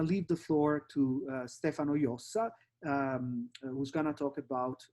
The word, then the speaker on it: Jossa: thank you also for pronouncing correctly my name and surname stefano yosa rather than stefano jose which has become my official name in the uk now and